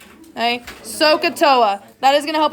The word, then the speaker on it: SOHCAHTOA: It's pronounced SOHCAHTOA. Okay, SOHCAHTOA.